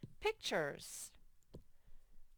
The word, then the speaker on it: pictures: what the word is pick and then it's chores i don't know why that t makes the ch sound but it just does pictures okay last word is